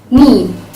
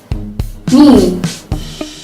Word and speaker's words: knee: It happens when the letter K is followed by the letter N in the beginning of a word, and thus the K is not pronounced.